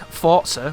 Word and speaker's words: Forza: because when I think Forza with a T some people say it like that I think Lego when